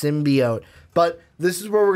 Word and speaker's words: symbiote: Voice coach, someone that can teach you how to pronounce it properly. Symbiote. Symbiote. It just sounds so weird, like symbiote. It's like no, it's symbiote.